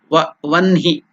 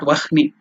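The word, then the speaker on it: वह्नि: In Sanskrit it is written as Vahni, but while pronouncing according to the Panini grammar rule, you have to pronounce it as Vanhi, not Vahni. Though it is written Vahni, you have to pronounce it as Vanhi according to the grammatical rule.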